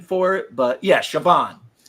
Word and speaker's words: Siobhan: they have a pronunciation for it, but yeah, Siobhan. S I O B H N. Yeah, it's like there's B's and H's and Yeah. S I O B Han. Siobahham, but it's Siobhan.